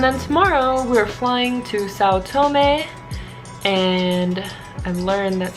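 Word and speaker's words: São Tomé: know yeah and then tomorrow we're flying to South Tomei and I learned that's how you pronounce that country's name after I've been saying it like say otome or my entire life so tune in for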